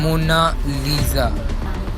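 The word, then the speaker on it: Monna Lisa: दोस्तों इसकी सही प्रोनाउंसिएशन इटालियन में ये है मोनालिसा, जिसका मतलब होता है माई लेडी।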